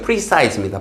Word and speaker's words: precise: capturing 발음 조심하세요. precise입니다. PR 아니에요.